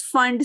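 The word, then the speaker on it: Pfund: And if it comes from anywhere but comes back to the fifth orbit, you call it as Fund series. P is silent, P Fund you write it, but you pronounce it as Fund series.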